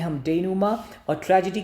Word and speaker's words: denouement: देखिए pronunciation देखिएगा क्योंकि most of them are Greek और Latin terms, तो देखिएगा उसको बोलते हैं हम denouement.